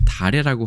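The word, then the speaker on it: 다례: 하나는 이 차라고 발음 안 하고 다라고 발음을 했고요.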